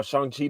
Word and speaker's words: Shang-Chi: because I went and saw Shang-Chi today because apparently that's how you're supposed to say it, and I've been saying it wrong this whole entire time, and I take full blame for that.